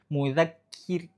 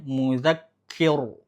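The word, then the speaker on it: مُذَكِّر: Mudzakir, kir. Ini jangan sampai bacanya mudzakir, kir. Dia harusnya dibaca tipis. Mudzakir. Ketika ro mati sebelumnya kasroh, maka dia dibaca tipis.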